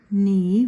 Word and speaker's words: knee: word for the picture knee which is what I'm doing and underline the silent letter the silent letter is K so you're doing two